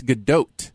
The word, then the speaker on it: Gadot: The T is pronounced, but it's Gadot.